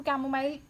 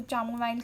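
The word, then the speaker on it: chamomile: ठीक है, इसको कैमोमाइल प्रोनाउंस कर लो या फिर कुछ भी कर लो, चामोमाइल कर लो, जो भी कर सकते हैं।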